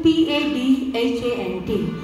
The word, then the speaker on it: Padhant: Padhant is actually the correct word. It is written P-A-D-H-A-N-T. But in Hindi it's said, it's pronounced as Padhant.